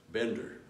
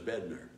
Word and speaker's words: Bedner: guys ball of gas I thought that was Bender so but it was bedner you know I always said that name wrong all these years of